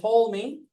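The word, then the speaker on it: Ptolemy: it's working okay so to me we don't pronounce the P silent P like pterodactyl right okay to me was important to the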